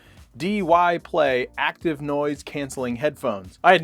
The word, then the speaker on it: Dyplay: say their name wrong it's either die play or dy play it's dy play active noise-cancelling headphones I